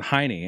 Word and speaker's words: Heine: So technically, my name is pronounced Heine, obviously German. But for some odd reason down the road, long, long time ago, they converted it or just started to pronounce it Heine.